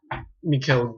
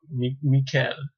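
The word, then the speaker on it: Michel: I don't even know if I'm saying his name right, but bear with me. Anyway, it's spelled M-I-C-H-E-L, so there you go. Mikel. We'll call him Mikel.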